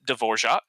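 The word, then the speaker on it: Dvořák: confused with you know New World Symphony Devorjac the goat the true the true goat yes that actually is how you pronounce his name but uh this Thomas D'vorjac to make things easier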